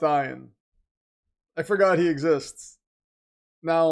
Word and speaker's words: Ian: It's pronounced Ian.